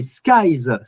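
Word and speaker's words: Skyeyes: Non, en Belgique c'est Skys. Ça s'écrit S K E Y E S. C'est comme Sky et Eyes, les yeux du ciel.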